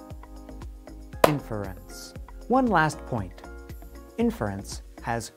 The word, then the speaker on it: inference: to know about inference we generally stress the beginning of the word we can show this by clapping when we say the word inference inference one last point inference